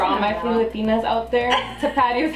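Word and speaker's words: Tapatío: Tapatio is how you say this one, okay?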